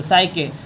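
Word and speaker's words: Psyche: यहां पर ये देखिए साइकोलॉजी जिस प्रकार से पढ़ते हैं पी यहां साइलेंट होगा ना तो सके और टू बोल रहा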